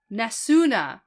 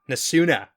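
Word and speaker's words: Nesune: speculation perspective change yes nasuna nasuna you gotta pronounce that last uh vowel gotta do it okay yeah that's an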